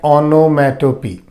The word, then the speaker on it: onomatopoeia: Number 5, we have onomatopoeia. The spelling is different, but we pronounce it like onomatopoeia.